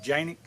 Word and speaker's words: Canik: on here and say it's not pronounced Canik, it's pronounced Janik. Well, this is America. That's a C, and these are my guns, so I pronounce them Canik.